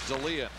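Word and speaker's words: Dahlén: darling's name he says correct way to pronounce it is Dalia he wants it pronounced I'm happy to accommodate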